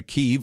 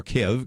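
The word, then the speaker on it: Kyiv: for that but also why keeve or kev kev depending on how you want to say it actually is very important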